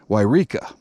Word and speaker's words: Yreka: sure how to pronounce it but it is pronounced uh yreka the highest point here is mount shasta which